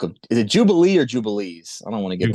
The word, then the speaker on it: Jubilees: Jubilees with an S on the end. Okay, so take out the like S. Illinois. Yeah, right. Yeah, there you go. Except you pronounce the S.